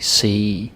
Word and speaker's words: se: Ske, se, le. Ske, se, le. Ske, se, le. Right? Just one syllable, like straight out the alphabet.